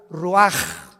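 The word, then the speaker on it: רוּחַ: y exhaló Isaac el rach así como suena se pronuncia la c en hebreo como J ruaj se les hó y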